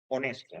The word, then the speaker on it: honest: H indique una aspiración en este caso es una Silent letter también es una una letra muda eh Como digo honesto